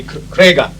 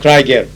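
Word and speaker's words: Kraigher: In English, it'd be Krega, but I know it was pronounced differently. It was something like Kraiger.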